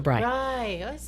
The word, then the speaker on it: brei: I'm not cheesy and occasionally they say Bray which is what a donkey does but no I'm actually like the matzo brei which I've never even had so yeah bre I in German you pronounce the last ball yeah so that's that's